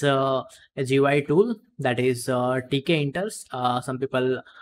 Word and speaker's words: tkinter: So actually, Python has a GUI tool that is tkinters. Some people pronounce it as Kinter, Tinker, tkinters.